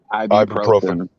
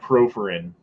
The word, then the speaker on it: ibuprofen: out of ibuprofen proprin how do you say that word ibuprofen ibuprofen ibuprofen it's not properin got it yeah what